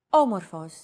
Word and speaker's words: Όμορφος: Did you notice the accent mark above the first letter? There is only one type of accent mark in modern Greek, the acute accent. It adds stress to a syllable.